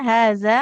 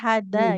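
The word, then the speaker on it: هَٰذَا: kemudian huruf zalnya haza nggak boleh hada ya.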